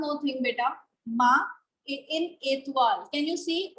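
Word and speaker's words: étoile: Oh, Itol, elephant. Okay. The correct pronunciation is Etwal, Etwal, and elephant.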